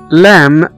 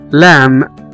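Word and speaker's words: lamb: هو مشت، كوم اللي هو مشت، احنا ما نطقناش هنا حرف البي. وزي كمان كلمة لام، L A M B، اللي هو حمل، لام.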